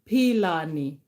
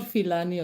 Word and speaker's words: Pilani: our beautiful queen Nokwazi was telling me how to pronounce that name, and it's Pilani. It's not Filani or something that you're thinking.